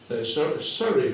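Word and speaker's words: Surrey: En una a las afueras de Londres hay una ciudad muy rica se llama Surri Syri lo pronuncian ellos.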